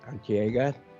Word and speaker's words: Arteaga: uh guest our uh repeat offender uh lori antiega pronouncing your last name kind of correct no yes